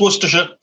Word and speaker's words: Worcestershire: No, just Worcestershire. It's so relaxed and just like flows out.